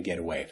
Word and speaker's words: getaway: away so I can get away but listen to the pronunciation again get away the T becomes more of a d and it's Blended together get away get away